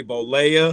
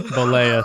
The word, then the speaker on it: Bollea: I look at it and I want to say it the like Spanish way, but I know it's not that way.